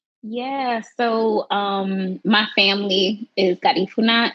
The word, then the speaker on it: Garifuna: So my family is Garifuna. I mean, that is the way you pronounce it. Is definitely like Spanish way. It's also Garifuna.